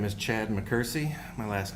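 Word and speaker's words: McKersie: Uh, my name is Chad Mccersie. My last name is spelled M C K E R S I E.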